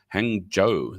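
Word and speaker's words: Hangzhou: z h o u hang Joo they call it not Zo apparently but it's spelled h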